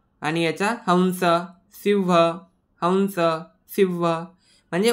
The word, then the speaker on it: हंस: आहेत मग या ठिकाणी अनुस्वाराचा उच्चारण करताना नेहमी लक्षात ठेवायचं की व सारखा साऊंड प्रोड्यूस करायचा आहे म्हणजे हंस हंस व सारखा उच्चार येतोय परत सिंह याचा पण